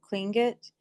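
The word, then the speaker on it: Lingít: Um, on that last word there, the TL, it sounds like you're saying with a T sound, but like when you spell out clingut, it's spelled the same way with the TL, but it has a K sound to it.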